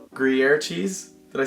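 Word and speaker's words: Gruyère: But like, I got this ham melt with like Gruyere cheese.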